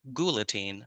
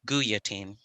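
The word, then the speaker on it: Guillotine: i have confirmed that it is pronounced gulatine not guyateen we've got a lot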